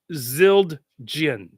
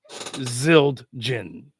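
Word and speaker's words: Zildjian: how do you say zilin honestly I don't know it's zild Jin zild Jin that's EX exactly what it is uh there's no other way to pronounce it but zilin um pretty basic pretty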